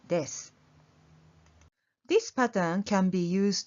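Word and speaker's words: です: The joining word は is placed between the two things, and the ending is です。 You don't have to pronounce the ending う, so it is です。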